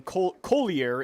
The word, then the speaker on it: Collier: Drafted him in the 1st round, and then Collier is the pronunciation from Full House.